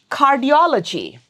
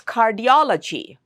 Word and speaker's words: cardiology: The third syllable from the right is do. So it's cardiology, not flat like cardiology, cardiology. No, that would be wrong. It's cardiology. Okay, let's look at this one.